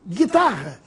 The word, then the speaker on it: guitarra: Da mesma forma, vamos ver a diferença da pronúncia do gui mudo para o gui pronunciado. Gui, guitarra, distinguir, seguinte, e gui, de linguiça, pinguim, arguir.